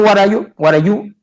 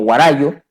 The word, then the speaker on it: guarayú: El pueblo guarayú, que castellanizado se escribe y se lee y se pronuncia como guarayo, más conocido como guarayo, ¿no?